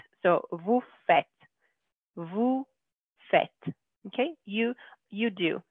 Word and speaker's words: faites: Again, it looks like fate, but we're going to say fête. So vous faites.